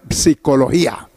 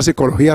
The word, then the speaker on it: psicología: una h si turismos apretar los labios para pronunciarlo porque está la p como cuando se pronuncia psicología hay una psicología simple y otra con la p anterior psicología así se lee este término soy turismos sabe